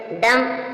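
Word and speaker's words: dumb: के बाद जो बी आया है वह भी साइलेंट है डम डम मींस गूंगा एम के बाद भी साइलेंट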